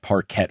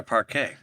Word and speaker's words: parquet: the Celtics have that Parkquette floor which is made up of alternating vertical and horizontal rectangles. It's like a hardwood flooring kind of design. Parket or Parquet? Oh, I guess parquet.